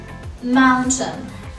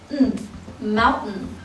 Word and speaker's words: mountain: لو حبيت اقول كلمة mountain mountain ممكن انطقها mountain عادي، او ممكن انطقها بال T شوا and cluster.